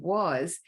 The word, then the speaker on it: was: for example the word was is interesting because the S is is representing a z sound and that a can